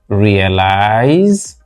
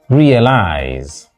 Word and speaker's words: realize: word group we have not realize but realize realize realize first syllable and of course if